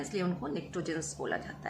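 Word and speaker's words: pnictogens: और इस ग्रुप के जो एलिमेंट्स हैं उनके लिए हम एक और वर्ड यूज़ करते हैं निक्टोजेंस। स्पेलिंग पी से स्टार्ट होती है, पी साइलेंट है, निक्टोजेंस।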